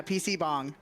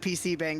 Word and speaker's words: PC bang: Is it like PC bong or something? Yeah, PC bong. Okay. But I pronounced it PC bang the first time I ever played this.